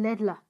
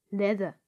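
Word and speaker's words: ladder: Das ist kein Lädler. Das spricht man ohne L aus. Leiter. Leather. In Englisch.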